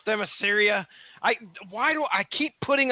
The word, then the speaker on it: Themyscira: How did they pronounce it in the theater? Themyscira.